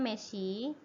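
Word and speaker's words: 飯: Dia kalau dia berdiri sendiri itu dia bacanya meshi ya, tapi dia lebih sopannya lagi gohang ya.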